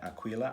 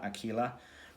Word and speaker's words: Aquila: um and per oculus aquila i think is how you say aquila aquila is the third track